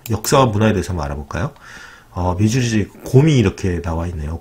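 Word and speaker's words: Missouri: 근데 철자를 보면 미주리 때는 미주리라고 읽어야 할것 같지만 토박이들은 위저러.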